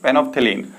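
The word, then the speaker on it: phenolphthalein: First one इज फेनोप्थेलीन, ठीक है। फेनोप्थेलीन जो है हमारा एल है, फेनोप्थेलीन में एल साइलेंट होता है।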